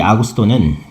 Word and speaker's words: 아구스도: 예수님 태어나시기 직전에 로마의 황제는 아구스도라는 사람이었어요.이 아구스도는 한문으로 된 말이죠. 원래는 아우구스투스죠. 아구스도 한문으로 쓰기 편하게 그렇게 읽는 발음인데요.이 아구스도가 자기가 다스리는 영토안의 주민 모두에게 호적을 하라는 명령을 내린 거예요.이 황제의 본명은 옥타비아누스인데요.